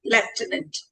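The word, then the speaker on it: Lieutenant: So what are the highlights that you would like me to introduce that you're a how do I pronounce it? You're a left tenant.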